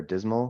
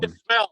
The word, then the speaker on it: Dissmell: but Michelle was asking, what is Dissmell, or am I pronouncing that right? Dissmell or Dismal? Dissmell at the bottom.